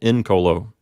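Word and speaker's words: incolo: a third conjugation verb the P note is an open syllable and it has a short vowel so the accident recedes to the first syllable in Colo next we have rego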